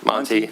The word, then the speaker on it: Monty: that our Representative Kyle, how do you pronounce his last name? Monty? Monty, yeah. Okay.